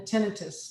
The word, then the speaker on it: tinnitus: And tinnitus is actually a ringing, the tinnitus, that's how you say it, is a ringing of the ear.